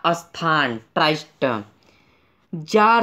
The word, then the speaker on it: Tsar: के सम्राट की उपाधि जारत इसे यह आप देख रहें हैं यहां प्रति साइलेंट है यहां पर इसको हम लोग उच्चारण करेंगे इस जार इस वीडियो का जो